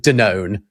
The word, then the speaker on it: Danone: Well, they're correct in so far as in Britain it is spelled the same as it is in France. And we pronounce it denown.